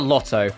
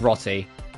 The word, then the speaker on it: Rotti: You always call it Lotto. Ignore one man who calls it Lotto. That's just because that's how they pronounce it in Japanese. She's called Rotti. And she's called Rotti in every version of the game.